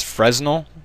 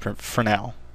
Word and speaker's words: Fresnel: Hit the texture button there, drop it down, and go to Fresnel. At least that's how I've always pronounced it, and that's how I've heard other people pronounce it. I don't believe it's Fresnel, even though it looks like that.